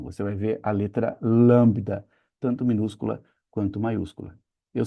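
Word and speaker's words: λάμβδα: A letra lambda agora já ficou diferente de novo.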